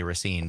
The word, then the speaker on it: Racine: Even other people around the state often say Racine, but Right. Racine, if you live there, is how you say it.